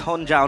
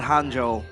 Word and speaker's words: Honjo: It's Honjo, not Hanjo. Cuz Hanjo is like the hero.